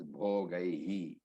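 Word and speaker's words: भोगैः: Then the second last word in this sloka, Bhogai Jivitenava, has to be broken into Bhogai, double matra, Bhogai, double matra with a visarga. So Bhogai. The pronunciation is Bhogai and Jivitenava.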